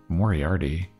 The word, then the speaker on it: Moriarty: you pronounce this leanne moriarty novel um i don't really have hbo so i don't know if i know this it's moriarty like in sherlock quick post wedding getaway